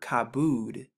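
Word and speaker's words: כבוד: see it has the cop right here which makes the k sound the both which makes the b sound the u once again to make the oo sound and then the dolla to make the d sound so when you put all of these four letters together you get the word kabood this is the word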